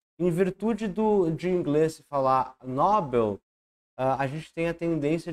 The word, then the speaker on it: Nobel: né o jeito certo a maneira correta de pronunciar essa palavra é Nobel não Nobel e por fim a